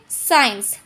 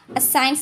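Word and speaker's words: science: तो हम इसको पढ़ेंगे साइंस। साइंस नहीं, साइंस। जैसे कि सीजर, डिसाइपल, मसल्स, सीन्स। यानी कि आपको ये याद करना है कि सी से पहले आया एस साइलेंट होता है।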